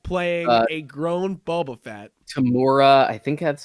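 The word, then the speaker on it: Temuera: Tamura, I think that's how you pronounce his first name, Tamura Morrison.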